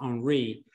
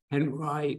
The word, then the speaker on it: Henri: And although Henry's name is actually, in French, it would be pronounced Henri, Henry wanted to identify as American. So he said, it should be pronounced Henry, not Henri.